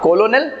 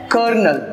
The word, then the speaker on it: colonel: कोलोनल? नो, इसका सही pronunciation है कर्नल, राइट?